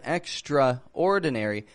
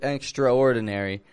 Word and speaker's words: extraordinary: world when they read the word extraordinary because it's spelled extraordinary people will often pronounce the a in there extraordinary now that's like uh you know Franks and